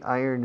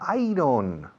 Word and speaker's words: iron: How do you say iron in Spanish? Hierro? Ah, iron. No, iron no. Iron. ¿Cómo? Iron. Yo, como si dijeras, yo gano. I earn. Acentuando I. Iron.